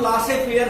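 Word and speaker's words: laissez-faire: शायद सुना नहीं होगा, laces फेयर policy. Laces फेयर policy, LAISEZ, laces फेयर policy, इसको कभी कभी प्रोनाउंसिएट करते हैं हम लासे फेयर पॉलिसी भी कहते हैं, कभी कभी हम प्रोनाउंसिएट करते हैं।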